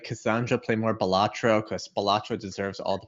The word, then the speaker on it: Balatro: heard that it's pronounced balatro so balatro means kind of like Jester or fool in Latin so it's not batro it's balatro that's what I here